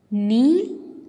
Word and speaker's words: knee: letter வந்து silent okay children க்னோ க்னாக் க்னாப் அப்படின்னு சொல்லக்கூடாது இதை ப்ரொனவுன்ஸ் பண்ணுறது தப்பு அப்படி ஸோ இந்த வேர்ட்ஸில் இருக்கிற கே வந்து சைலண்ட் லெட்டர் இப்போ சொல்லாமா நோ knock knob knife knot knee knit knee இப்படி தான் இதை ப்ரொனவுன்ஸ் பண்ணும் ஓகேவா இப்போ கே மட்டும் கிடையாது